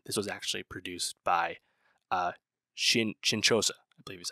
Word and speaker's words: Shinchosha: This was actually produced by Shinchosa, I believe is how you say it, which is the producer of the short story the film is based on.